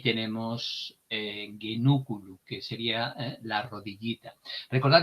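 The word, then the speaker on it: genuculum: En cualquier caso, recordar genúculo, el acento nos viene en esta sílaba, puesto que la penúltima tiene una vocal breve.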